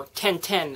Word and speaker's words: Tintin: the new movie called tintin or 1010 as my mom insists it's pronounced because that's the french name now before i begin